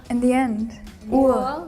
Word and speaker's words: Uhr: Uhr. You don't pronounce the R too hard there. R is like half silent.